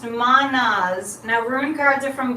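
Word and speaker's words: Mannaz: Okay, this is pronounced Manaz.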